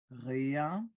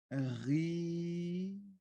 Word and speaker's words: rien: Re, like Rihanna, rien.